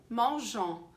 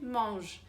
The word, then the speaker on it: mange: falar en nesse finalzinho, porque se escreve E-N-T. Mas a gente não fala esse ENT, a gente fala il mange, que nem je mange,